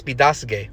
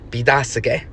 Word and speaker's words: Biidaasige: Petoskey, of course, being the more anglicized pronunciation of Bidasege.